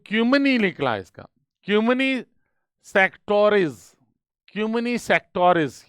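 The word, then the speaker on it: cymini sectores: Italian इसका pronunciation है क्यूमनी सेक्टोर्स, क्योंकि वो बाल की खाल निकालने वाले हैं।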